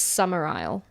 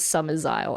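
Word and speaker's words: Summerisle: In the original film, it's Summer Isle. But for some reason, they thought that people wouldn't be able to pronounce it. So they said Summer's Isle.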